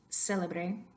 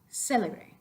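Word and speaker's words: célebre: So the first one, if you could repeat after me, do a little exaggeration, kick it up a notch to make sure that you're accenting the first syllable there.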